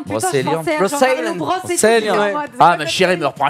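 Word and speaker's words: Brocéliande: juillet, c'était la série Brosse Island avec Nolwenn Leroy. Donc, ça, c'était vraiment cool. Tu sais, t'arrives toujours pas à prononcer le nom de cette putain de forêt. Brosse Island. Brosséliande.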